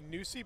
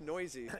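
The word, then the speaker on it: Neuse: It doesn't look like it should be Newsy, but it is. It's pronounced Noisy. Noisy, I'm sorry. They just said Newsy, though, I think. Well, Noisy is correct, I believe. You're right. Now that I'm corrected. And it's spelled N-E-U-S-E, so you can understand why the we're kind of fumbling around on the pronunciation here. But it is pronounced Noisy. Like, you're very noisy in the newsroom half the time.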